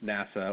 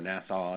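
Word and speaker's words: NASAA: American Securities administrators Association or NASA or nasau depending on how you pronounce it uh and if uh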